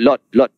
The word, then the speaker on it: Lod: Di situ Babul Lut, dalam bahasa dia orang disebut Lot, LOD gitu ejaannya.